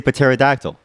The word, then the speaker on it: pterodactyl: But we don't say ronounced, we say pronounced. Okay? We don't say ussy, we say pussy. Therefore, we say pterodactyl.